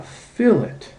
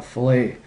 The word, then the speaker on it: fillet: we can add a fillet notice I pronounce it a fillet not a filt a filet is what